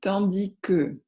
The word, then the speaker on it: tandis que: utiliser alors que août tandis que vous remarquez qu'on ne prononce pas le s alors que tandis que